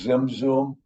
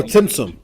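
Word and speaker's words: tzimtzum: Is that what is called zim zoom or am I saying it right or wrong? Zim zoom. Oh, timsum. Oh, do you want to get you want to get into the into the Okay.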